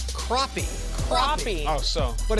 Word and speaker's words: crappie: I'm told on Twitter it is called crappie. Crappie. Oh, so. But it's spelled.